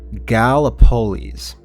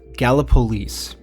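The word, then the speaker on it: Gallipolis: Uh, it is pronounced Galapololis. Galapololis. Okay, so double postp production me here. It is pronounced Galapololis, but this tornado was in that town on April 23rd, 1968.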